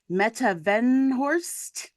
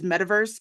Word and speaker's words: Meta Venhorst: We also have new to the pod, Jen Scott, known as Meta Venhorst. Yes. I will not lie. I've been always pronouncing it as metaverse because it just like